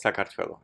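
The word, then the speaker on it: საქართველო: So in Georgian, Georgia is called Sakartvelo.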